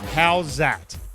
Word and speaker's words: Howzat: The word is how's that? It's an Aussie word. How's that? I'm about to give you a little bit of reference here. Okay. It's spelled HOWZAT, and I can already